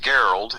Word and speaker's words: Gerald: It's like Gerald, only it's pronounced Geralt.